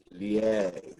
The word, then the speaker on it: lié: So J-U-S is pronounced jus, and L-I-E is lié.